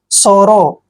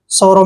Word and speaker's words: sorrow: SORROW, एस का उच्चारण हम क्या करते हैं? से, ओ को ओ की मात्रा पढ़ते हैं, डबल आर को रे पढ़ते हैं, OW को ओ का उच्चारण देंगे। सोरो, सोरो क्या होता है?